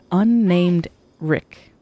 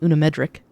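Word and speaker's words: UnnamedRick: I got your name wrong yesterday or on Saturday, but it's unnamed Rick. I was calling it Unamedric.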